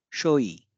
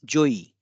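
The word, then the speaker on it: 上位: Another example of usage is shoi. Uh, I'm sorry, it's joi.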